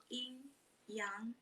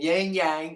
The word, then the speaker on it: yin yang: The correct pronunciation is yin yang. Yin yang. yin yang. Well, I've been saying yang yang like an American forever, so I'm gonna keep saying yin yang.